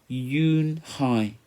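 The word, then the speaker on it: Unhei: Kim then turned to Joey she nodded slowly yes it's pronounced Eun Hye and it means grace mr.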